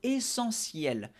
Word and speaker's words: essentiel: La politesse joue un rôle essentiel. Ahí lo puse en negrita, tú sabes muy bien que significa esencial, pero la pronunciación, la T no suena T, sino S, como una S.